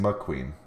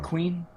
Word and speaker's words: Queen: So the fact that they let them just run down the field, Is it Queen or is it McQueen? McQueen, Really? McQueen. Oh man, I have No, his name wrong. Queen.